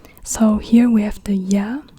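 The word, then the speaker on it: ياء: here we have the Y and the Y is like a y sound or like an i i or Y and the Y looks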